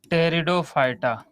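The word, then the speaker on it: Pteridophyta: एक और बात यहाँ पे जरा ध्यान दीजिएगा, जो यहाँ पे इनके हिंदी यही होगी, इसमें बेटा पी साइलेंट होता है, लेकिन लिखावट में पी लिखा जाता है।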